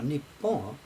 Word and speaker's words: Nippon: And even now, Nippon, that's the normal pronunciation for those two characters.